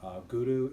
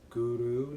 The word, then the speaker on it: Guru: in the mantra, and Guru is Guru, not Guru. So when you pronounce it, try to roll the tongue.